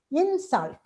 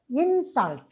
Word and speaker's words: insult: And the stress shift, say insult on in, and you pronounce it as insult when it is a noun. But as a verb, we pronounce it as insult, insult.